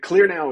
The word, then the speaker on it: KlearNow: spell that one more time yeah sure so clear now is spelled with a K it's k l e